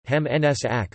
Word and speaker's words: Heim ins Reich: The Heim ins Reich, German pronunciation, Heim ins Ack, listen, meaning, back home to the Reich, was